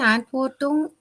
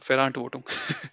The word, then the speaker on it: Verantwortung: Die Antwortung No, der, not Antwortung, Verantwortung. oh ja, ja, die Verantwortung der Employees, Mitarbeiter oder Yeah, Employees.